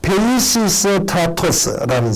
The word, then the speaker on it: 페이시스트라토스: 참조의 가장 대표적인 사람이 피스 시스트라스토, 발음이 잘 안 되네요. 페이시스트라스토스라는 사람입니다. 다 같이 해볼까요? 페이시스트라토스라는 사람입니다.